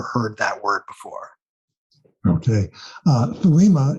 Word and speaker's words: Thelema: Thelema is a Greek word, and there are various other pronunciations of it. So this is kind of an Americanized pronunciation of the Greek. I've had Greek professors tell me that it's more of an aspirated T, and the accent's on the first syllable, so it's more of a telema or something like that.